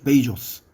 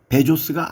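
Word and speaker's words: Bezos: 포스트에 소유주는 아마존의 설립자인 제프 베이조스 여전히 언론을 포함해 많은 사람들이 부르는 베조스가 아닙니다 2013년에 워싱턴 포스트가 동영상을 첨부하면서이 발음이 맞다고 했습니다 이들은 대선의 결과로 실제로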